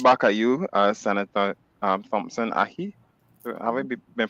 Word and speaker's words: Ahi: Next Friday morning from 10 to 11:30, and I'll throw it back at you, Senator Thompson Ahi. Have I been pronouncing that correctly? Yes, Ahi. Got it right. Ahi, yes.